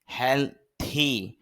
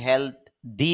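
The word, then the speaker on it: healthy: সেরে ওঠা হেলথ স্বাস্থ্য হেলথি অনেকে হেলথ দি বলেন দি না থি হবে হেলথি স্বাস্থ্যকর বা স্বাস্থ্যবান হেয়ার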